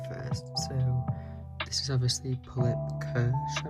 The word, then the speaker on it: Pullip Kirsche: So, this is obviously Pulip Kersh, I believe is how you pronounce it.